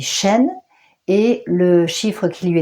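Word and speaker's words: שין: sont des dents dans en effet ça se dit chîn et le chiffre qui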